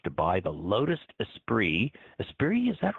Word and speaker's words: Esprit: Esprit, is that right?